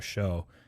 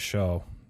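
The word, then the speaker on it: Shough: an organ ducks fans that tyler show s-h-o-u-g-h that's why i was trying to confirm with him pronunciation which it sounds like i was right but it's it's a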